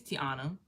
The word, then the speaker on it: Tiana: I would say like Diana.